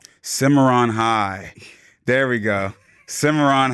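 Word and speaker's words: Cimarron: Simarin High School. Simmeron High. There we go. Simmeron High. Sorry about pronunciation.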